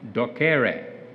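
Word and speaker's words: docere: i realized this is greek for duck duck docker docker so one of my medical students said this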